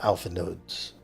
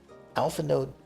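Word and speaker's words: Alphinaud: I've noticed uh how alphan no's uh name is actually pronounced like I I did hear them pronounce the d at the end a lot of times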